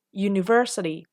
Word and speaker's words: university: University dan unit ini kan kalau diucapkan bukan berawalan U lagi, tapi menjadi berawalan Y, university, unit.